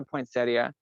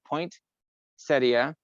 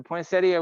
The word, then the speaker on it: poinsettia: i call it a poinsettia we don't really emphasize the the the t because it's not in there but some people really called him a point setia but the the poinsettia was actually named after